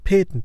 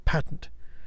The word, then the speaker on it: patent: Yes, other people have pointed out the pronunciation of the word patent or patent, depending on which side of the Atlantic you're on.